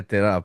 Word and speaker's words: Te Rā: I promised myself not trying to pronounce that. So Ter Terra something like this. Yeah. Yeah. Yeah. Terra.